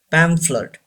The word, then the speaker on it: pamphlet: pamphlet say this word pamphlet here BH gives the sound of F pamphlet don't say pamphlet pamphlet